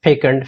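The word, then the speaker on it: fecund: This is pronounced as फेकंड।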